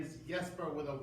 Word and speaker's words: Jesper: if you will but in Denmark J's are pronounced with a Y so it's with a